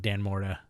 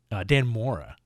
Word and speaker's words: Dan Mora: Once and Future, another great book from Kieran Gillen and Tamara Bonvillain, Dan Morta, I think. Dan Mora. That's how you say it.